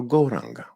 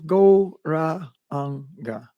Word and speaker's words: Gauranga: Mantra, której użyjemy, to Gauranga. We'll divide it into 4 syllables. Go, ra, anga.